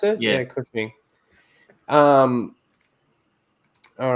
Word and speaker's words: Cushing: Is that how you pronounce it? Yeah, Cushing.